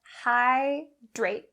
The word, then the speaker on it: hydrate: For the pronunciation for these words, we're going to concentrate on the dr sound. It is important to make sure that this dr is pronounced clearly and accurately. Don't change it to the tr sound. That's not correct.